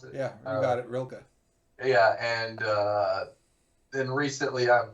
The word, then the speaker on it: Rilke: Um, and Bukowski, and then Rainer Maria Rilke. I don't know how you pronounce it. Yeah, you got it, Rilke.